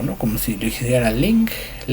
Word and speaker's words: 靈: El primero es el tono interrogativo, que se va a encontrar en la palabra ling. Ling, vamos a usar el tono de interrogación como si se estuviera preguntando la palabra ling.